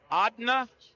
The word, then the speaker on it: Adna: A-D-N-A, pronounced Adna.